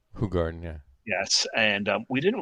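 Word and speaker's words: Hoegaarden: what what people knew is um As Americans pronounce it hoog Garden but it's actually pronounced H Garden H Garden yeah yes and we didn't really know it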